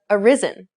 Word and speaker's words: arisen: word is pronounced arise adding an n however doesn't give you a horizon but arisen the last word is